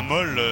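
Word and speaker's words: maul: ce bol Madame Mademoiselle Monsieur bonsoir alors un molle c'est quoi un mot alors ça s'écrit là-bas M a u l oui les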